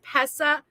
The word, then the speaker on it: Pessa: Adrian forget and shiggles pessa MJ you pronounce my name pessa correctly it's short for prince pessa prince pessa from the movie Life is Beautiful I